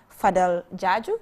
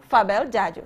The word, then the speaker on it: Fabel Jaju: And I also have Fadel Jaju. Did I pronounce the name correct? Fabel Jaju. Yes, Fabel Jaju as well.